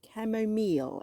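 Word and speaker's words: camomile: a row of uh camo camo meal as you pronounce it here so let's see what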